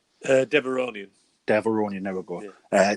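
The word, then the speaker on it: Devaronian: He's joined by a Devorian strongman called Berg, which I thought looked brilliant. The fact that we've seen this, is how you pronounce it, Devorian, is that right? Deveronian.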